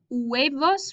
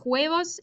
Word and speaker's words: huevos: Remember, H's are not pronounced, okay? Or not, they don't have a sound in Spanish. So we don't say los huevos, we say los huevos. We start with the U.